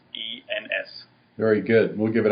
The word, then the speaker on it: Goossens: And it's spelled a little weird, but it's Goossens.